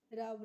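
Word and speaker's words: rub: क्योंकि यहां पे जो यू का प्रोनाउंसिएशन हो रहा है वो यू अ करके हो रहा है। उ करके नहीं हो रहा है। क्या हो रहा है? अ करके हो रहा है। इसीलिए रब रब की हिंदी मीनिंग होती है रगड़ना।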